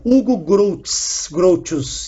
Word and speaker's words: Hugo Grotius: Hugo Grotius, é assim que se pronuncia essa porcaria.